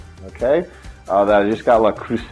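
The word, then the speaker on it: Le Creuset: That I just got La Cruce, I think is how you say that. My daughter says don't use the T in French, and so she had 4 years of French.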